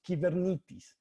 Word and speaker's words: Kubernetes: commander or ruler so the word is actually pronounced keeper neat piece i sometimes say kubernetes something and says kubernetes there's plenty of lemon there's actually very funny